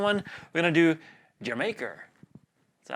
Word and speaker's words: D'yer Mak'er: We're going to do D'yer Mak'er. That's how they say it. I googled it. I guess that's how you say it. Anyway, it's supposed to sound like Jamaica. Jamaica. Jamaica.